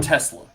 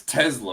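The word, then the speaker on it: TeSlaa: Again, I got to figure out how I say his name, because it's not Tesla. It's Tesla or something.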